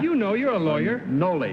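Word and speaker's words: Nolle: Okay, everybody Noel? Is that the way they pronounce that, Bud? You know, you're a lawyer. Noli is the first part of it. Noli? N-O-L-L-E, Noli.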